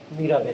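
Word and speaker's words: Mirabeau: मीराबाई बोला जाता है वैसे इसको, लास्ट का वो साइलेंट कर दिया जाता है।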